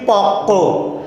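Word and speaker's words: পক্ব: আচ্ছা, প্রগতর আরও একটা এক্সাম্পল আছে, খেয়াল করেন পক্ক বানানটা কি প কয় ব, কিন্তু আমরা উচ্চারণ করছি কি পক্ক।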